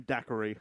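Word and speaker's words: Dacre: Jason Scott played by decree d decree Montgomery I don't know how to pronounce it's da a c re call him Dair Dair yeah so when um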